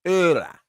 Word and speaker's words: Laura: Laura it is. Pronounced Ura.